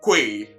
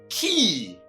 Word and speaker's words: quay: And I only hope you are not already saying quay or even k or something.